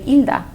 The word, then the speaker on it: Hilda: Normally my name in Spanish, the H is silent. So you just say Hilda.